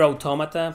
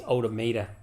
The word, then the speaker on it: automata: you know like near automata people are always thinking it's automata no even in english it is pronounced automata as if it was spanish automata automaton you just